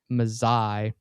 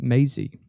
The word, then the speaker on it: Mazzei: State Attorney General Gentner Drummond faces Mike Mazzei. I'm sorry, pronounced Mazie.